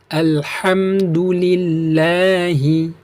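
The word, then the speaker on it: الحمد لله: Iya seperti itu lanjut Alhamdulillah ada tanda panjangnya jadi motherhobi'ilamnya lam siddahnya ini dengan harokat fathahnya yang panjang itu hukum bacaannya adalah Mad Thobi'i seperti itu nah kemudian kita lanjutkan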